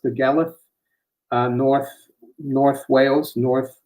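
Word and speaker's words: Dolgellau: i went to the gala it's spelled like dogely but it's uh pronounced the galath uh north north wales north west wales and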